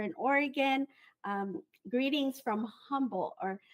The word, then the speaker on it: Humble: Oregon um greetings from Humble or it's supposed to be silent h but I don't know how to do silent h so humble District of